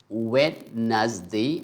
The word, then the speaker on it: Wednesday: Next we have like Wednesday. I used to think we have three syllables, but fortunately it's going to be only two sound. So over here we are going to elide one consonant D, and the next is